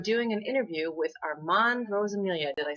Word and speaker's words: Rosamilia: books and i'm doing an interview with armand rose amelia did i say it right yes all right